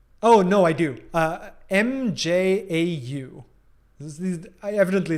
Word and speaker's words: mjau: no i do uh m-j-a-u evidently it's been too long since i was in norway uh mjau meow meow uh pronounced the same but spelled very differently uh do you exclusively